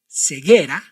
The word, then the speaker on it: ceguera: You must pronounce these three words like this: ceguera, guitarra, embrague. Did you notice any difference with our previous words? Exactly. In these three words, you must not pronounce the vowel U.